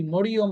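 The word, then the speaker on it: مريم: অনেকে আমরা কি বলি? মরিয়ম বলি, মরিয়ম নাম। হ্যাঁ, এদের নাম শব্দটা কি? মারিয়াম। মারিয়াম নামটা সুন্দর করে উচ্চারণ করতে হয়, মারিয়াম, অনেক সুন্দর নাম মারিয়াম।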